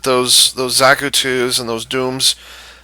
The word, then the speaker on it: Dom: those zaku and those Dooms is it Doom or Dom I think it's Doom um even though it's spelled with one o uh there the super